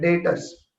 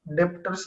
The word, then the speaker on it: debtors: उसको बोला जाता है डेटर्स। स्पेलिंग है DEBTORS, डेटर्स, बी is silent, डेप्टर्स नहीं बोलना है, डेटर्स, बी is silent. And liabilities में हमने जिससे